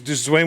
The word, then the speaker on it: Dwyane: His mom said it's pronounced Dwayne. He's Dwayne Wade.